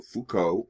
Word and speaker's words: Foucault: well one of the prime theorists is Michel Foucault that's how you pronounce his name he talked about a pan